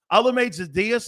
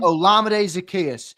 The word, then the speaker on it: Olamide Zaccheaus: Olamide Zaccheaus. How do you say his name? Olamide Zaccheaus.